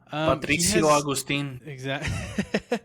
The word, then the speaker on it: Patricio Agustin: that have kind of been keeping track, Patrick Augimeng, which, Fern, how do you say it again? Augustine? Augimeng? I got it now. Augimeng? Something like that. Patricio Agustin.